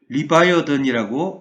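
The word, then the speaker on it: Leviathan: 리워야단, 이것은 영어로 리바이어던이라고 읽습니다.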